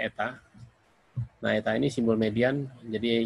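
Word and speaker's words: η: n tapi kakinya panjang sebelah yang kanan Lebih bacanya Eta nah ini simbol median menjadi hipotesisnya bukan pakai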